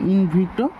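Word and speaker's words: in vitro: ভিভো মানে বাইরে থেকে, আর ইন ভিট্রো এভাবে উচ্চারণ করার চেষ্টা করো, ভিট্রো মানে ভিতর থেকে,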